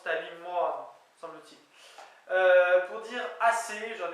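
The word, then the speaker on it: tali moan: Eh bien c'est Talimoan, semble-t-il, T-A-L-I, espace M-O-A-N, mais qui se prononce Talimoan, semble-t-il.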